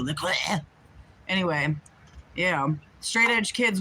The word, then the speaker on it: LaCroix: Trying to say it like the French do. LaCroix.